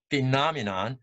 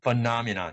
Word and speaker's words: phenomenon: So a lot of people, a lot of native speakers pronounce it as phenomenon, but you also heard some people pronounce it as phenomenon. So you have two ways of pronouncing the word phenomenon or phenomenon.